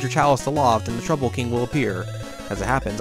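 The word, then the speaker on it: Troupple King: never heard of the trouble King half trout and half Apple pronounced like mouthful he's one of the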